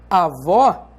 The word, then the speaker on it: avó: Por exemplo, se você diz avó, você sabe que esse O tem um timbre aberto e não um timbre fechado. E você sabe também que vó é a sílaba tônica da palavra avó.